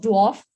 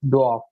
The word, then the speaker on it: dwarf: What is the plural of dwarf? Work on the pronunciation. Don't pronounce R in this word. Gautam, please answer. And second one is the correct answer. Dwarf.